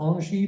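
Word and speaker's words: Engie: between a French utility called NG or Ani the French pronunciation it's a very large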